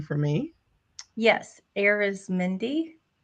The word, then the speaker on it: Arizmendi: name for me yes aerys Mindy arizmindy okay just like it's spelled but I looked I